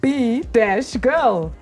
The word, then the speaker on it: B-girl: You pronounce that like a beagle. beetle. You're like being a beagle. B-girl.